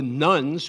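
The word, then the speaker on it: nones: They are often called the nuns, which bothers me because that's spelled N-O-N-E-S, not to be confused with great people like Sister Simone.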